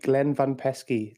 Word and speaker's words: Glenn Van Peski: your host Aaron and today I'm joined by Glenn van pesy did I pronounce that right Glenn you did it sounds